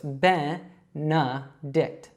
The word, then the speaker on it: Benedict: So it's not A sounds like you might think seeing those E's in there. It's actually an E and a schwa. So it's Benedict.